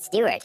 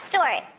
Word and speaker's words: Stewart: because of singer rod stewart the problem is that she didn't know how to pronounce stuart correctly store it store it store it